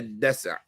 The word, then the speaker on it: دسع: That is a dasa'. Just make sure we're pronouncing it right. Dasa'. Now with the sukoon, الدسع مصدر دسع والدسع يسدع دسوعا دسع شيء دفعه.